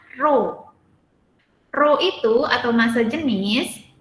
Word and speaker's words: rho: Massa jenis disebut juga dengan rho ya, dibacanya rho.